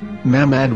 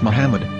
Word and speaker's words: מחמד: Muslim prophet, or as Mamad with no A after the H. According to Ben Yehuda's Hebrew English Dictionary, it is correctly pronounced as Muhammad, not Mamad.